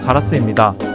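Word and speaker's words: ガラス: 일본어 발음은 가라스입니다.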